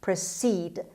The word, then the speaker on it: proceed: six proceed proceed proceed the stress is on se sound or letter c proceed it's a verb means